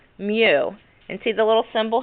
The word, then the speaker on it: mu: materials in contact so the symbol for the coefficient of friction is a Greek symbol and it's pronounced mu and see the little